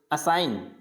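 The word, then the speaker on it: assign: जैसे असाइन, तो यहाँ पे जी को प्रोनाउंस नहीं किया जाएगा, असाइन, क्या बोला जाए इसको, असाइन।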